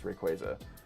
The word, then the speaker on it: Rayquaza: I always say Rayquaza. Apparently the official pronunciation is Rayquaza.